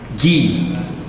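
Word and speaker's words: γῆ: que estuda a terra, gi, porque no grego não temos gi, o G tem som de G, mas como se fosse para a pronúncia gato, por exemplo, gato, o som é seco, não é esse som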